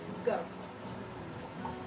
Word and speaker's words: गर्व: ठीक इसी प्रकार गर्व, क, र और व, लेकिन उच्चारण करते समय हमें र का प्रयोग जल्दी करना होता है और ये उच्चारण किया जाता है गर्व।